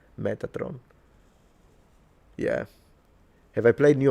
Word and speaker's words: Metatron: The same Metatron. It's the same. Just a little just roll your R and you turned it into the Italian way of saying it. Metatron.